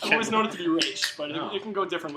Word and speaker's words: Ra's al Ghul: It's funny that he pronounced it Roz. Just now, huh? And there are multiple ways of saying it, supposed but to say? I always thought it was Ra's al Ghul.